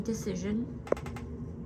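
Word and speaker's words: Dacyczyn: Um Amy decision. I know it looks weird. Um but that is how it's pronounced.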